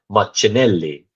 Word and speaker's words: Martinelli: but then also Martinelli said his name is pronounced Martinelli so I think it was actually Adrien Clark